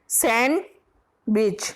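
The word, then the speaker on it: sandwich: डी इसमें क्या होता है? साइलेंट रहता है, इसे क्या बोलते हैं हम? सैंड नहीं बोलते हैं, सैंडविच। हम गलत बोलते हैं सैंडविच। तो इसमें कौन सा लेटर साइलेंट हो रहा है? डी। आगे से ध्यान रखिए, सैंडविच होता है, सैंडविच नहीं।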